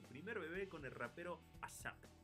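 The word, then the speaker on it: A$AP: además cuesta trabajo pronunciarlo porque la S de ASAP realmente es un signo de dólar. Sí, Eso realmente sería como A dólar. A dollar ape Rocky, ¿no?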